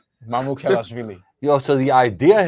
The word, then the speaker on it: Mamukelashvili: Sasha Mamazvili? Mamukelashvili.